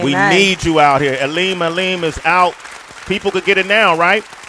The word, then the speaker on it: Elemelem: Elemelem is the name of the project. Make sure you pick it up. Elemelem. And 11, Sway. You gotta say it like a drunk uncle saying 11.